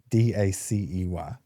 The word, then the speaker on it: Dacey: Dacey. Like Lacey, but Daisy. Yeah, like Lacey or Casey, but yeah, not Daisy or Darcy.